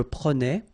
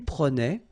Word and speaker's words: prenais: All right, so same thing here, final S not pronounced. Je prenais, tu prenais, il prenait, final T not pronounced, so the same form.